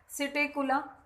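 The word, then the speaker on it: Psittacula: सिटेकुला, P silent है, सिटेकुला parrot.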